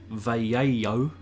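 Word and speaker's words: Vallejo: again this now I was told it was pronounced vay a yo veo Double L in Spanish I should have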